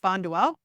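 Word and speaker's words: Bonduel: Bay so you'll see that here it is pronounced bondell and so if you stay here through here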